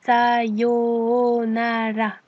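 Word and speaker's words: さようなら: Une nouvelle fois, attention au long mais également au R qui ne se prononce pas R comme en français mais qui ressemble plutôt à un L. Ce qui donne donc Sayonala.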